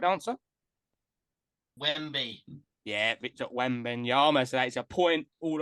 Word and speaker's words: Wembanyama: Victor Wembanyama. Oh, it's a good pronunciation as well. H, what have you gone for, my friend? Victor Wembanyama.